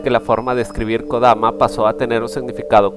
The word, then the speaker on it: Kodama: el mismo no obstante la pronunciación del nombre del ente siempre ha sido kodama en sus inicios el